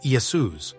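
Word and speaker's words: Ἰησοῦς: the Israelite judge Joshua first century Christians who spoke Hebrew would have pronounced his name yahoshua while those who spoke Greek would have said Yus the fact that the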